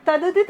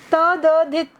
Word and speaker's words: तद्धित: ऐसे ही तदधित, आप जब कॉपियाँ चेक करते हैं तो कॉपी चेक करने में आपकी इसमें जो गलत उच्चारण करते हो तो वो बोलने में भी तदधित, है ना। हाँ, तद्धित, देखो बोलते बोलते भी हम लोग गलती कर देते हैं।